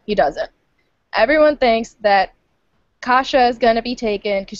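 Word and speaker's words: Kasia: I was I was give me the name pronunciations aneska and and and okay Kasha Kasha okay aneska Kasha the dragon okay gotcha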